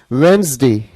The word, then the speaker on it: Wednesday: के लिए ध्यान रखना, इसकी जो प्रोनाउंसिएशन है वो क्या है, वेंसडे। क्या है इसकी प्रोनाउंसिएशन, वेंसडे।